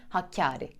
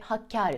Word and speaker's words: Hakkâri: illerimizden bir tanesi de Hakkari Hakkari şeklinde sıklıkla yanlış duyuyoruz ama lütfen düzeltelim ve Hakkâri şeklinde kullanalım altıncı sırada yanlış haliyle